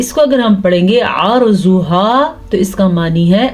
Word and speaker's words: عَرْضُهَا: غنہ نہیں ہوتا۔ عَرْضُهَا، آئین کے تلفظ کا دھیان رکھنا ہے، اگر آپ اس کو پڑھیں گے عَرْضُهَا تو اس کا معنی کچھ اور ہوگا، یعنی کہ اس کا معنی ہوگا اس کی زمین۔ عَرْضُهَا کا معنی ہے